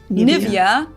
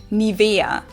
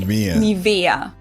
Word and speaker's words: Nivea: English native speakers usually say Nivea. Nivea. In German, we say Nivea. Nivea. So, the emphasis is on the E. Nivea.